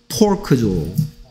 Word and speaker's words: pork: 그래서 발음을 조심하라고 했어. 삼지창 주세요는 fork고요. 돼지고기 주세요는 pork죠. 됐습니까? fork, pork.